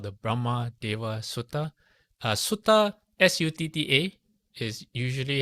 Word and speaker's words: sutta: called the Brahma Deva Sutta. Sutta, S-U-T-T-A, is usually how the Pali Canon or the Theravada sutras are referred to, because in Pali it is spelled or pronounced that way, sutta.